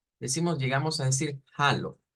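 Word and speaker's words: Hallo: alemán hemos visto que se puede pronunciar como Aló vea prácticamente como como decir eh Aló en español pero con un sonido de una J entonces suena a Halo bien Halo con una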